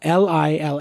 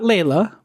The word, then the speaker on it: Leila: it's it's ly la Li la it's how it's pronounced but it's spelled L di la I know people butcher this constantly I think not the Eric Clapton version not Layla yes right thank Lyla